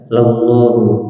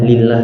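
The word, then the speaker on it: لَلَّهُ: Ini bacanya bukan lillah ya, yang mungkin tidak ada harokat. Yang benar itu adalah lamah, yaitu ada lam taukid, yang artinya adalah lam untuk menekankan, dan lam taukid itu tidak mengkasrohkan isim setelahnya, yaitu hukumnya tetap marfu. Ya, makanya bacanya lallahu.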